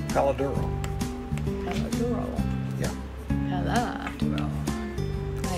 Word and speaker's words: Palo Duro: Palo Duro? Yeah. Palo Duro. I say Palo Duro. Well. That's our training. Palo Duro.